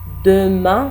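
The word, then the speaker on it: demain: pronounce करेंगे द मा द मा द मा एन बोलना नहीं है हल्का सा सुनाई दे रहा है द मा दमन नहीं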